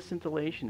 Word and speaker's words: scintillation: is something called atmospheric cellation and cellation uh it's spelled s c i n t i l l a t i o n scintillation atmospheric scintillation is this uh this right